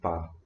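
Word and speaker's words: 八: or something i think it's called pa that's pronounced bar the lucky number yeah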